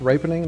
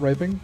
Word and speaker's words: ripening: Uh, it's pronounced ripening, not riping.